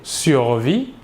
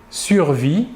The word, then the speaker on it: survit: Le S et le T final de la terminaison ne se prononcent pas, mais s'écrivent.